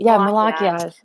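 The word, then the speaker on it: Malachiasz: at all turns; and I know how to pronounce Malakiaj is like how she was saying it. It's Malakiaj. Okay, I call him Malakazi. I know. I call him Malachi.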